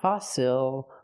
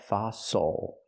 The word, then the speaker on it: fossil: a fossil we have a double s we use the true s sound foso use the open a sound like hot and stop for the O fa f again not fossil but fossil the stress is on the first syllable the second syllable is not stress so it's oo like muscle and Castle fossil so we can use